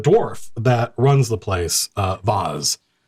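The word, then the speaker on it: Voz: And the dwarf that runs the place, Vaz, V-O-Z, walks up, not V-A-S-E, pronounced in a posh accent, but V-O-Z comes over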